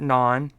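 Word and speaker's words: naan: Pronounce it non. Yeah, I didn't call it non bread. I just said non.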